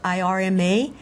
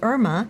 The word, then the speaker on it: Irma: I know that when people see it spelled I-R-M-A, many people will say Irma. Mm-hmm. And if that's how someone says her name, that's totally okay. But my name is pronounced Irma.